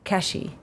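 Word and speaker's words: Cathie: explain to me that my first name the pronunciation here in in Korea is more like cashy yeah like cash cash okay I had no ide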